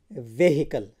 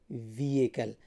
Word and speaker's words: vehicle: Now most people they pronounce it as vehicle, right? Most people they say vehicle because of the H there, but the H is silent here and you say vehicle.